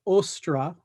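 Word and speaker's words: Ostara: anglo-saxons and it was called ostra i think is probably the best way of pronouncing it very close to easter if you will so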